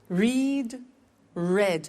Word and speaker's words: read: Read, read. Notice that. Now, read and read are written exactly the same, but the pronunciation changes in the past tense.